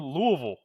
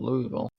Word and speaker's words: Louisville: So I've got James Madison taking on Louisville.